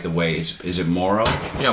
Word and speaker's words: Morrow: talking to you about the pronunciation of your name. What it's what? Mororrow. Is that another way people No. Well, they they say it any number of ways, but yeah, they I get marrow a lot, you know,